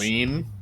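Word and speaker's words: Lien: Leon is spelled L-I-E-N. In French, Lean?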